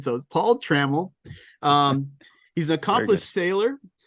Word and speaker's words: Trammell: other interview with we check corrected the names pronunciation so Paul Trammell um he's an accomplished sailor a writer a